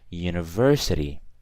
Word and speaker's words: university: the way but the way the word is pronounced is how I'm gonna put a so university I don't say an University I say yeah